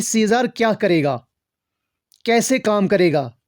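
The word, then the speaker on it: Casca: और जो पहला वाला हमारे पास है इसकी प्रोनाउंसिएशन है कासियस, और जो हमारे पास यहाँ पे है उसकी प्रोनाउंसिएशन है कास्का।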